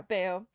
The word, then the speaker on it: Bayo: like Beowulf. Yeah, Bayo.